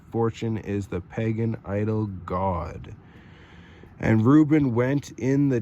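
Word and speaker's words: Gad: So she called his name God, spelled several different ways, pronounced exactly the same.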